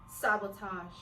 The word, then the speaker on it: sabotage: I think if you want to pronounce it how it is spelled, it could be sabotage. But like I stated, sabotage, the taj, the ij, sounds British.